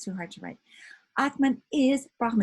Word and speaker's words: Atman: You know, so it's written with an N, sometimes without, usually pronounced just with Atma, like that, okay?